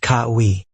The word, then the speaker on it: Kawaii: My name's Kawaii. It's Hawaiian, pronounced kai.